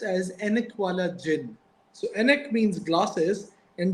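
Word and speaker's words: Ainak Wala Jinn: which was on the Ghost with the glasses pronounced as enala Jin so enk means glasses and Jin means ghost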